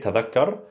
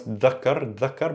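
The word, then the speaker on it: تذكر: This is an MSA, tadakkar. In ammiya, you could pronounce dhakkar, but in also dialect, you could hear dzakkar with a z sound, dzakkar.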